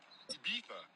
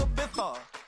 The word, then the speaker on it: Ibiza: I just went to Spain, that's Ibiza. Ibiza. Yeah, it's pronounced Ibiza, actually.